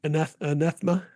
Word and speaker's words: anathema: to say that is like anathema, yeah, that's a word, isn't it? Anathema, Anathema. Yeah. anathema, and Anathema. I had a syllable wrong.